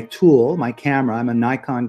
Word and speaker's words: Nikon: my camera I'm a Nikon guy or Nikon is the proper way to pronounce it I have a